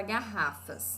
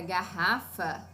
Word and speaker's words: garrafa: oi olha só e a palavra garrafa ela é paroxítona proparoxítona e de acordo com grande paroxítona garrafa sílaba tônica em ra Olha que interessante que